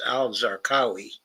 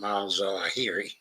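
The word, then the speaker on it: al-Zarqawi: Uh yeah, but it's al Zarqawi. Yes. Alqawi. Yeah. Yes. They're very different, you know, from Alzari.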